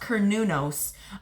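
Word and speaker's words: Cernunnos: a nature god um oh pronounced konos also known as Hearn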